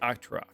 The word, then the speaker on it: Octera: I think Octera. But Ra, not rocks. Octera.